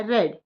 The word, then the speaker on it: read: walk, I walked, I buy, I bought, I read, I read। यहाँ पर ध्यान देने वाली बात है, दोनों की ही स्पेलिंग READ होती है, लेकिन हम प्रेजेंट टेंस